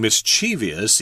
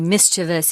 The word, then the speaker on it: mischievous: The correct form is mischievous, but you will hear a lot of people saying mischievous, even on TV and TV programs, they say it all the time.